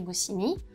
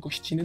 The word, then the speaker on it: Gościnny: I attended the French school in Warsaw, named after Rene Goscinny, whose last name should actually be pronounced “Gościnny” by the way And then I finished high school in the Lycée Français Alexandre Yersin in Hanoi, Vietnam.